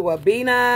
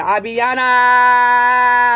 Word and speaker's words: Abiana: Shout out to Wabina. Okay, I gave you a shout out. Abiana. Shout out to Abiana. Yes, said it wrong.